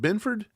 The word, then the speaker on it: Benford: might be able Benford how how does he pronounce it Benford yeah Christian Benford they think he's he's going